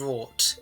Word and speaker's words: wrought: in Road generate Enrique and wrote is wrought in English pronunciation is gold like dressed